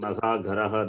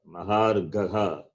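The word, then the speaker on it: महार्घः: No, you are saying Mahagharaha, that is wrong. And Ha. It's Maharagha. it's not so difficult. No. Mahar, listen, Mahar, then Gaha, Mahar Gaha. Maharagha.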